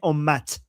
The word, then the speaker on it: ummat: So in Arabic, they say Ummah. In Persian, they say Ummat. So the t that is silent in Arabic, in Persian, they pronounce it.